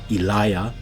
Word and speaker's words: Elijah: If there is a double I or double I, the second I has the J or the J sound. So for example, when we look at words or names like Elijah in the Gothic, the second I here would carry a J sound.